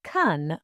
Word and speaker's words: can: The word can is usually pronounced very weakly in a positive sentence. It sounds like kun or even just kun.